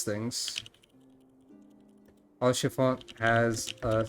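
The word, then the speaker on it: Haurchefant: too or chiffon there's the h is silent back to my uh notepad for the way to pronounce things all chiffon has a silent h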